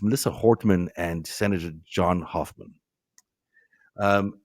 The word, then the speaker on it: Hortman: Um you know we're seeing this it's sorry I I misspelled I think I mispronounced the name. It's Melissa Hortman and Senator John Hoffman.